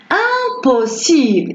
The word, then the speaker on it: impossible: Impossible. Et s'écrit avec IM. On ne dit pas impossible. Non, on ne prononce pas le M.